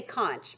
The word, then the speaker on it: conch: of twisty around or you can say conch by the way conch or conch either way you want to read that as fine they're both acceptable pronunciations but the conch shell